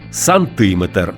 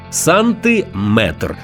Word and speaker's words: сантиметр: слів із частинкою метр буває кажуть кілометр сантиметр це неправильно у словах на позна міри довжини з компонентом метр завжди наголошуємо саме цю частину міліметр сантиметр дециметр кілометр кілометри чужих